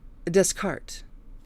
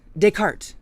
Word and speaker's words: Descartes: love you guys okay renes discard for a long time I said that incorrectly and I don't know if I just pronounced it correctly Renee's descart Descartes Descartes right Descartes the the 18th century